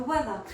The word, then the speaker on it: weather: Because the weather is a way where you see we don't actually pronounce the R, although it's written.